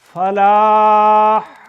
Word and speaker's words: فلاح: ہا، یہ تالو کے ساتھ خراش نہ لگے تو یہ ہا ہے، ہا، خراش لگے تو وہ خا ہے، خا، تو یہاں خراش نہیں لگنی، حی علی الفلاح، فلاح، تھوڑا سا توجہ پھر میرے تلفظ گئے، فلاح، آگے ہا کھڑی ہے بغیر نقطے کے، فلاح نہیں ہے، فلاح کہو گے تو ہے بنے گی آنکھ والی، ہے یہاں سے نکلتی